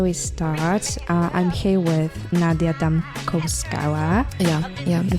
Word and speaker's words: Nadia Damkovskaya: I'm here with Nadia Damkovskaya. Yeah. The pronunciation is right.